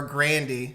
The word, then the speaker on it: Grande: me okay alright so ariana grande or grandi apparently that's how she pronounced yes yes yeah just